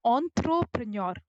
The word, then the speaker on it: entrepreneur: is a is uh the word comes from a French word and hence we pronounce it as entrepreneur entrepreneur is a person